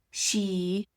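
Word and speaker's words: sidhe: The Kelts viewed sacred sites like fairy mounds she, which is spelled s i d h e, but pronounced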